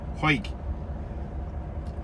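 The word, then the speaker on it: Hawick: hike which is spelled h-a-w-i-c-k spelled howick but pronounced huik to load for a north allerton in yorkshire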